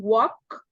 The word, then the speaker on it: walk: we said we can walk please repeat after me walk walk walk walk walk walk you don't pronounce the L the L is a silent letter don't pronounce do not